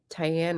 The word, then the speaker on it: Tyanne: those lines uh comments Eva was saying tyanne rhymes with Diane I was saying it the frenchway okay School comments on